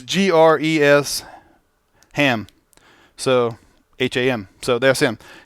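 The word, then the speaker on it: Gresham: It's Gres Ham.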